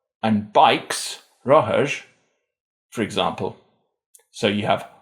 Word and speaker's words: rothair: The distinction for R has been lost at the beginning of syllables, but not at the end, making the difference between bike, roher, and bikes, rohers, for example.